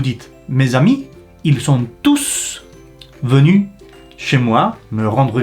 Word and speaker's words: tous: mes amis ils sont tous venus chez moi me rendre visite alors là vous devez prononcer le S parce que c'est un pronom vous voyez la différence